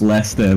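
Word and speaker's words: Leicester: It's pronounced Lester, but I don't know.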